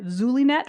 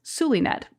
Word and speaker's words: Zulynette: want to call her zulet but it's pronounced with an S suet but we'll get to the power of names a little bit later I blurted out suet how about you come